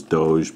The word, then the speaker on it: Doge: you want to pronounce I know that the proper pronunciation is Doge but for an 8-year-old